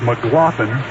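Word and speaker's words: McGlothen: mclaughlin that's mcgl o t atm and it's pronounced mclaughlin lynn mclaughlin these are a couple of transplanted american leaguers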